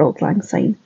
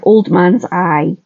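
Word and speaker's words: Auld Lang Syne: wrote the words for Old Lang sign or old man's eye as my husband my South African husband thought was how you pronounced it when he was still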